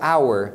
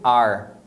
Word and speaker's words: our: de pronúncia é que a palavra our que significa nosso Nossa você pronuncia our se você tiver peluciando pausado a ênfase que normalmente dentro de uma frase eles pronunciam como ar a mesma pronúncia do verbo to be we are e ar pra nosso Então você vai ouvir